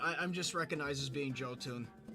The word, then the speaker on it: Jotun: Is your name pronounced like Joten or Goten but Joe? It's actually just Jotun. J-O-2-N, Jotun, because it's supposed to be a pun, like Joe Moon's second channel, Jotun, but it's cartoons.